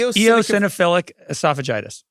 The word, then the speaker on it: eosinophilic esophagitis: ad yeah Craig email this guy I have eosinophilic esophagitis if anybody has that and you have remedies email me how do you say it again e eosinophilic esophagitis which sounds a lot worse than it is